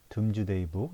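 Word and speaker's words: Domesday Book: 여기 지금 드론즈데이 북이라고 있는데 발음은 둠즈데이 북 이렇게 돼 있어요.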